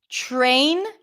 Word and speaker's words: train: So instead of pronouncing it up here, t, t, t, you pull the tongue in a little bit and you pronounce it further back, ch, ch, ch, and and then it becomes more of a ch sound.